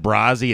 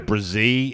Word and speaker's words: Brazee: I said Brazzi. It's Brazee.